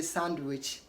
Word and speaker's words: sandwich: a handsome boy okay also D is not pronounced in Sandwich don't say sandwich say sandwich sandwich okay